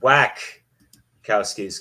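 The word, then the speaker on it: Wachowski: it was directed by The Wack cowys pronounced it whack cowys because they kind of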